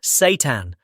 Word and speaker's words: seitan: It's called seitan, pronounced seitan, and it might just be one of the best-kept secrets in muscle-building nutrition, especially for seniors.